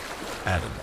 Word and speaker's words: ADM: ADM and REM, pronounced Adam and REM.